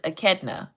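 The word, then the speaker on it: echidna: Akidna. Okay, I know it looks like inchadina, but it's a ketna.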